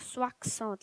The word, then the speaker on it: soixante: Now, also, you might have noticed that I'm not saying it like soixante. Like here, it is written as Soixante, but in reality, we don't pronounce the X.